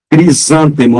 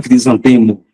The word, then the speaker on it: crisântemo: é lêvedo alacre alegre crisântemo não é crisantemo tudo que tem tipo